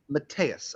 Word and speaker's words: Mateus: Could you just say it? Mateus is my name. Mateus.